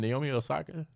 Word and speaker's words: Naomi Osaka: young brown skin girl naomi is her name naomi osaka yeah that's how you pronounce it she is the verse on the